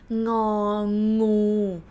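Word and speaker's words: งองู: It's ng sound and g sound. Think about the word king. King, a king, like speak a little bit like British, king, a king, ng.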